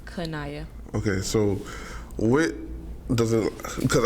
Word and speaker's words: Qineya: know it's real unique so how do you like pronounce it my name is kanaya okay so whit doesn't